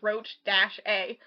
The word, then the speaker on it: Rocha: It literally says pronunciation, and then it shows you how, and it literally says Roach-A.